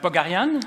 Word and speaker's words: Pogharian: Pogarian? Oui. C'est bien prononcé, d'accord.